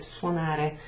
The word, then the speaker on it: suonare: So we need to know the verb suonare. Suonare, suonare. It's kind of a U and an O is like a wa.